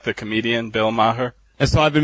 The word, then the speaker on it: Maher: of like the comedian Bill Maher. And so I've been mispronouncing Bill's last name as well, incorrectly. Well, actually, this gets complicated already, but, okay, Bill Maher, it's Bill Maher, as in M-A-R-R.